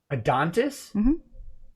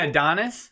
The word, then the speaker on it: Adonis: what an adontis was adontis am i saying it wrong adonis yeah yeah a dontist might work on your teeth but an adonis is something different is a really sexy